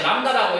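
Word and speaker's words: λ: C는 뭐 곱하기 뭐라고 한다 이거 이 시읒자 뒤집어 놓은 기호를 읽을 때 람다라고 읽으면 돼.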